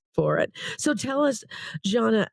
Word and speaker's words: Žana: So I know that Janna is spelled Z A N A and then divine hospitality or it also can just be ZD hospitality.